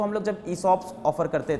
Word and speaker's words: ESOP: के बाद सब लोग ESOPs की वैल्यू समझ रहे हैं. They are okay with ESOPs now. Some of them could not pronounce it ESOP, they call it eShops.